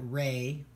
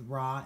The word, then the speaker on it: Ra: of the cult of Ra, the Egyptian sun god. Some people pronounce that Re, so you'll hear both Ra and Re.